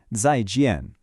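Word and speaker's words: 再见: For that, we have 再见. That's pronounced kind of like 再见. This is your standard, go-to, polite way to say goodbye. And you can see how 再见 works pretty much just like goodbye does in English.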